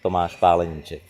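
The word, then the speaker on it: Tomáš Paleníček: Welcome to Sweden, Tomas Palenicek. Is that the correct pronunciation of your name? Well, almost. In Czech we pronounce it Tomas Palenicek, but you did well.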